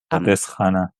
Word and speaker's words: Pardis Hana: And I don't know how to pronounce this, but Pardis Hana, is that how it is? Pardis Hana.